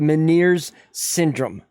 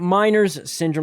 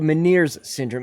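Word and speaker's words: Ménière's: i have what's called meniere's syndrome okay not miners syndrome like a lot of people like to pronounce it it's called meniere's syndrome it's an uh it's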